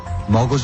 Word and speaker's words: মগজ: মজগ না, মগজ হবে। যাই হোক, বাদ দিন তো।